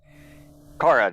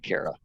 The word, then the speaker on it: Cara: I think my apologies Cara not Kara I'm I'm not people's